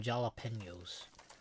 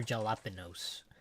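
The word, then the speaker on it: jalapeño: like, give me some jalapenos. Or jalapenos. And the rest of the group were like, what the fuck is that? He's called, it's not, the J is silent. It's jalapeno. It's not jalapeno.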